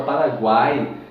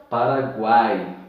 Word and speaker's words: Paraguai: Veja que na palavra Paraguai, você pronuncia o U, pronuncia o A e pronuncia o I. Paraguai, tá bom?